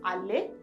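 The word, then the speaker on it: അല്ലേ: While pronouncing this Alle shows an emphatic stress. Allah plus A, Alle.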